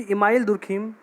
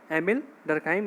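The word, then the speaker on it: Émile Durkheim: सबसे पहले तो हम लोग ये देखेंगे कि इमाइल दुर्खिम, इनका जो प्रोनाउंसिएशन है, इनका जो नाम है, उनको अलग अलग प्रकार से प्रोनाउंस किया जाता है कि इमाइल दुर्खिम, एमिल डरकिम, एमिल दुर्खाइम। तो जो हिंदी की बुक्स हैं उनमें इमाइल दुर्खिम नाम इनका लिखा गया है, जबकि इंग्लिश में प्रोनाउंसिएशन किया जाता है तो एमिल डरखाइम इनका प्रोनाउंसिएशन होता है।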